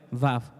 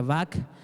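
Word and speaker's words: וָו: B de vaca, A, B de vaca, otra vez, Vav. Algunas veces se pronuncia Vak, algunas veces se pronuncia Vau, algunas veces se pronuncia Vau, dependiendo de la forma en la que está escrita, pero seguramente estás viendo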